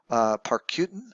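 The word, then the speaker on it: Parícutin: Parcutin, I think is how you say it, in Mexico, is a cinder cone volcano.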